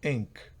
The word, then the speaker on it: ink: Ink, que significa no ink, sino ink, una especie de I hacia E, que es una I corta. Si fuera ink es otra cosa, pero aquí es ink, bien corta.